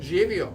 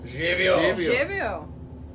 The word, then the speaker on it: Živio: Živio. Živio.